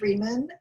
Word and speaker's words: Rieman: It's pronounced Rieman.